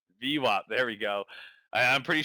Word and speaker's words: VWAP: It rhymes with CWAP. VWAP.